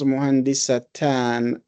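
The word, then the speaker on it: مهندسةً: And muhandisa becomes muhandisatan. So the ta marbuta is still there, but we pronounce it and make it ta maftuha in order to link it to the alif and nun.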